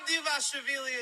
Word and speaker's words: Dvalishvili: Merab Dvalishvili is back. You have to say my last name good. It's a Dvalishvili.